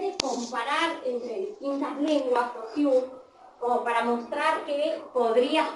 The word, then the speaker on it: Saussure: ¿Cómo se pronuncia el autor? ¿El qué? El autor, ¿cómo se Saussure. Saussure.